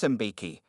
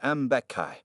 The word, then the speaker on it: Mbeki: Mbeki, Judge Harrison said, pronouncing her name wrong. Officer Peterson says you ran a red light this morning and were uncooperative during the stop. How do you plead? Not guilty, Your Honor, Sarah replied calmly, and it's pronounced Mbeki.